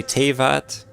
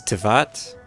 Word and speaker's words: Teyvat: Because I used to say Teyvat. I think it's Tevat.